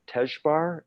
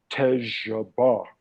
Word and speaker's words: Tejabar: I said, "Tejbar," and he said, "No, Tejabar."